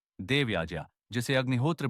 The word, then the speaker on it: यज्ञ: आगे वह यज्ञ के महत्व की बात करते हैं। यज्ञ केवल ओम स्वाहा बोलने भर का नाम नहीं है। संस्कृत में इसका शुद्ध उच्चारण याज्ञ है, न कि यज्ञ।